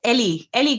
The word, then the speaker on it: Eri: So her name is well, it's actually pronounced Ellie Griffin, but it's written Eri Eri Griffin, and she's a Japanese illustrator based in Edinburgh.